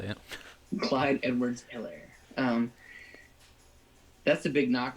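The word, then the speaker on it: Helaire: rookie that's how you say it clyde edwards hillary um that's a big knock on him is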